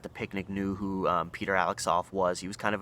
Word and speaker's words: Alexov: So enters a fellow Bulgarian named Peter Alexov, which his last name is spelled Alexsoff. So I'm going with Alexov.